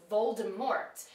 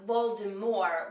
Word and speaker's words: Voldemort: end and it was Voldemort and I think it might actually be said that way in the movies as well however it's intended to be pronounced Voldemort with a silent T but again if you